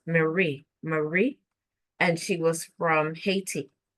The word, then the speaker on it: Haiti: And one really popular, really nice girl, her name was Marie, and she was from Haiti, which is, I think, is actually pronounced Iyati. So she spoke French and English.